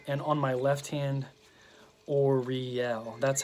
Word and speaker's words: Uriel: on my left hand or real that's how he Donald Michael Craig has the pronunciation of this archangel so or real and the last two syllables are the ones that are pronounced or accented so it's oh yeah